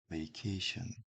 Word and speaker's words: vacation: 그냥 vacation, 배라고 하지 않고 왜라고 하는 이유는 이 V나 F 형태 발음은 깨물면서 발음하는 형태, 윗니빨로 아랫입술을 문 상태 튕기면서 살짝 문 상태 튕기는 느낌으로 vacation, 여기 휴가인데 휴가를 떠나다고